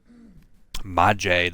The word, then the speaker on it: Maje: Maje, that's how it's pronounced. I always assume a silent J.